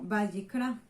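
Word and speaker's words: ויקרא: Y en hebreo significa, o más bien se nombra como Vayikra.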